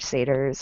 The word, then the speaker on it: satyr: It has a bunch of other mythological creatures, like satyrs and Yes, is that how you pronounce it?